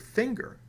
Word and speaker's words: finger: singer why do we pronounce the word finger with a hard G and the word singer